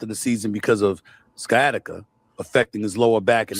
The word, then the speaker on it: sciatica: If you remember that because I'm here to tell you how to say it sciatica. You says sciatica. That sound like some medicine. Some some medication. Skyatica. That's the only reason he